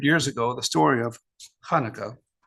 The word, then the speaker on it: Hanukkah: Nearly 2,200 years ago, the story of Hanukkah, pronounced with a ch, Hebrew for dedication, began.